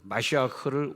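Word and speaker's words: מָשִׁיחַ: 크리스토란 발음, 그 헬라어로는 크리스토고 그다음에 그것을 히브리어로 보면은 마시아흐를 우리나라 또 메시아 이렇게 번역을 했습니다. 이렇게 발음을 했는데 마시아흐, 독일어에 있는 것처럼 키역 발음을 아주 강하게 내면서 마시아흐.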